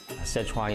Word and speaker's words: Sichuan: Am I pronouncing that correctly? Yee: You sure did. You know, most people think of Sichuan cuisine hot, just spicy hot.